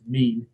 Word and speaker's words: mesne: like to pronounce it it is pronounced mean uh was not even